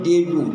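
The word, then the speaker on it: debut: donation মানে দান করা মেক ডোনেশন মেক ডে উচ্চারণ ডেবু ডেবু ডি ই বি ইউ টি টি এর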